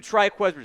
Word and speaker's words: Trikweze: Let's go to Triqu that is how you pronounce it.